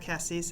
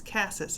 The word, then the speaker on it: Cassis: with Cassis and it's not Cassis it's Cassis and I apologize because